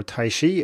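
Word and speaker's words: tai chi: started so taijichwan or taishi as it's usually pronounced in English is a Chinese martial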